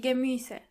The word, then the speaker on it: Gemüse: Try to practice the pronunciation of this word a couple of times to make sure you are pronouncing the umlaut correctly. Die Gemüse.